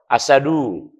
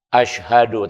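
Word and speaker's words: أشهد: Baca asyhadu, mungkin juga masih agak kesulitan. Kadang-kadang asadu. Nah, ini, padahal bacanya mestinya asyhadu.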